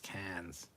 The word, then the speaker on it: Cairns: SC Scout Guy, I never understood how in Australia the city of Cairns was pronounced Cairns.